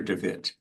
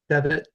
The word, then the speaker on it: DeWitt: Is it Devitt or DeWitt? Devitt.